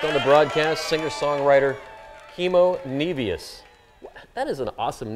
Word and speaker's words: Nevius: We now pronounce it Nevius.